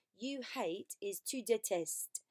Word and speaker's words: détestes: And number 6, you hate, is tu détestes. And I know I'm not pronouncing the S on the end, but you need to have written it.